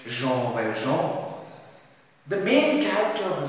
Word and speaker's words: Jean Valjean: One night, Jean Valjean, the word, the name in fact, is pronounced as, in French, Jean Valjean.